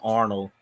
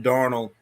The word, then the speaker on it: Darnold: the ball darnold yeah i keep getting that mixed up we're not mixed up i just keep uh mispronouncing it sam arnold i think sam arnold was a comedian sam darnold well they said he